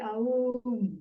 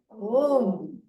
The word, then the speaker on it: Om: You don't say Aum, okay? What do you say? Om. Now, Sandhi, we must not separate. A plus U plus is Om.